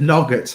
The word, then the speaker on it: nougat: How do you say nougat? Nougat. Almost. Nougat. Nougat. Nougat. I don't know. That's how I say it. Dan says it nugget, like yogurt.